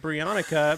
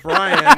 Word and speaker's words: Brian: That's the first time I've been called Brionica. My name is Brian.